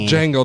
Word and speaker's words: Django: Dango on it's called Jango the D is silent yeah I got it